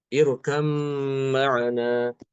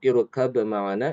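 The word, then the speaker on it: ارْكَب مَّعَنَا: Pada kata irkab ma'ana ya, surat Hud, Imam Hafiz kan dia mengidghamkan ba ke mim ya. Irkam ma'ana. Imam Hafiz dia mengidghamkan huruf ba ke mim ya. Irkam ma'ana. Namun di sini Imam Ibnu Amir justru mengidharkan. Di sini ada perbedaan di situ ya. Jadi Imam Ibnu Amir baik Hisham maupun Ibnu Dakwan pada surat Hud tadi itu pada lafaz irkab ma'ana itu diidharkan sehingga banyak dikolkolahkan. Ya bunayya rukab ma'ana. Irkab ma'ana. Seperti itu bacanya. Kemudian di surat Yasin wal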